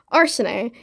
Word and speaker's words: Arsene: Next, Arsene. It is spelled Arsene. It's not Arsene, it's Arsene. Arsene is not the correct pronunciation, but I just prefer Arsene for whatever reason.